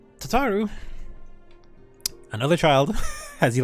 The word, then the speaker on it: Tataru: Hey, it's Tutaru. Alphino, a message from the Alliance. Tataru. I misspelled her, or mispronounced her name. Tataru, another child, as you like to call him.